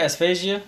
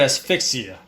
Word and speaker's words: asphyxia: Asphasia? Was I saying it wrong? Asphasia, I believe that's how you pronounce it. It was. I said asphyxia. Yeah, repeat it for me again. It was restraint asphyxia.